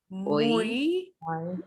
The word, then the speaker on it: muy: But they're all be E sounds because they're hanging off the end of the word. So I'm going to do them one more time. I, oi, muy, cuy.